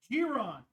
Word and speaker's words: Giron: Glenn, back again, and Marlayne Giron, the soft G.